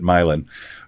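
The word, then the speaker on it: Milan: And he was surprised that we pronounced it Milin.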